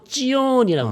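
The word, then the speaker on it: Zion: 이렇게 들었단 말이죠 그 그쪽 사람들 발음은 다르죠 예 지오 지언이라고 합니다 예 시 예 그러면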